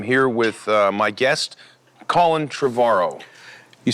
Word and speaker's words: Trevorrow: I'm here with my guest, Colin Trevorrow. You said it right, finally. Trevorrow, like tomorrow.